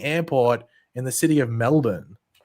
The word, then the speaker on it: Melbourne: Family home from being bought up and demolished by the expanding airport in the city of Melbourne. Not Melbourne, like the Americans say, Melbourne. Like Ben, Melbourne.